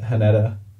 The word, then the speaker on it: Haneda: So, a man arrived in Japan on an international flight at Haneda. I think it's how you pronounce it, Haneda Airport.